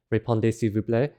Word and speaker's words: répondez s'il vous plaît: The Z at the end of répondez is silent, the L is silent, the S is silent, and the T is silent.